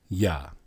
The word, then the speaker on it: Yah: How is it pronounced? YAH.